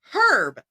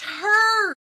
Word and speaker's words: herb: with them on is herb. There's an H. It's pronounced herb.